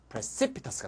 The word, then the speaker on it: precipitous: 요거는 OUS니까 두 번째 앞 precipitous가 됐습니다. 아이고야 왔다리 갔다리 하네. 같이 한번 해볼게요. precipitate, precipitation, precipice, precipitous. 됐죠? TOUS는 발음이 터스가 되고요. TIOUS 있죠? ambitious. 이거는 셔스가 됩니다. 그래서 셔스, 터스 잘 구별하세요.